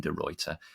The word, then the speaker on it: De Ruiter: for the love of his life author Geraldine derter Rand welcome to the podcast it's great to